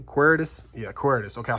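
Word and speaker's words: Quaeritis: Yeah, Quiritus.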